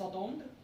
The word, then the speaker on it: attendent: Attendre, ENT is not pronounced, right?